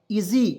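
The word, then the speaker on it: easy: तो इसे पढ़ेंगे दोस्तों इसी बिल्कुल गलत इजी क्योंकि यहां पे एस है इसका उच्चारण ज के रूप में होगा देखिए इ से इ लिख दिए एस का उच्चारण ज के रूप में करेंगे और जब भी अंतिम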